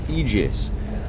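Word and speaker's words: aegis: the eus of life I am reliably told that this is in fact pronounced egis and I have no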